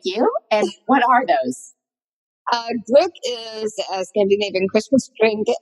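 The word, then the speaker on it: gløgg: There's an what's on the umlaut above the O in the first one, which makes this gluk.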